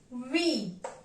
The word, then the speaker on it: huit: Number 8 is pronounced as huit. Huit. Look at the spelling and pay attention. Even if the spelling is huit, we are going to pronounce it as huit.